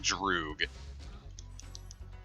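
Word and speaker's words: друг: Like the A-P-Y-R in like Russian, which is apparently pronounced like Droog. Because, you know, Cyrillic.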